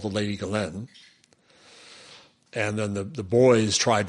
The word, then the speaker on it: Ghislaine: The other question is Ghislaine. Is that how it's pronounced? Ghislaine, Ghislaine.